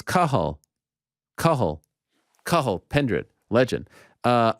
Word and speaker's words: Cathal: did you butcher it no it's because it's c-a-t-h-a-l uh bro i'm familiar with kahal pendrid all